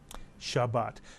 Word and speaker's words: Shabbat: real Hebrew word Shabbat Shabbat Shabbat has two Hebrew vowels so it has two Hebrew syllables the first syllable is sha and the second syllable is but and remember every Hebrew